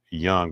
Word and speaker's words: Jung: It's pronounced Young, but it's spelled Jung.